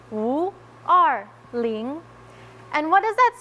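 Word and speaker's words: 五二零: For us in the Chinese community, when you say May 20th, the numbers 520, they are pronounced Wu Er Ling.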